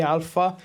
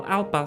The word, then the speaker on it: Alpa: lot of people confused they always call me Alpha and the funny thing is in America there is something called Alpha simulation there is no age between P Alpha simulations guys I